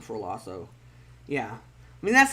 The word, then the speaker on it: Lasso: of ted lasso lasso is it lasso or lasso i mean it is spelt lasso because double consonants means a short vowel but i'll hear a